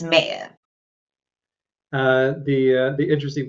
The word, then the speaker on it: Maher: of your last name uh Maher that come from I'm like what are we even reading the same word um but yes it's mayor uh the uh the